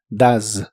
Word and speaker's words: does: El auxiliar does lo pronuncias como si la o fuese una a. La e no se pronuncia y la s se pronuncia de manera vibrante, z. Así que suena como does. Does.